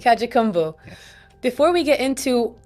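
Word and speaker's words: Kajukenbo: And your career consists of so many different types of disciplines: Sistema, MMA, and Kujenkumbo. Could I say it right? Kajikumbu. Kajikumbo.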